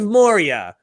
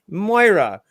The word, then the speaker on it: Moira: the entire freaking maura my minds of morya no it's moira it's like well i'm glad you finally